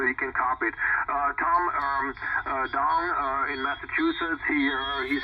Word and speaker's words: Dong: My name is Dong. D-O-N-G. Delta Oscar November Golf. Dong is my name.